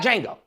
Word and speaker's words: Django: They got Django. Okay, the D is silent.